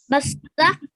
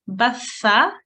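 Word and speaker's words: ث: Rather than a sa, try and say it like a th with a slight sort of s sound in it.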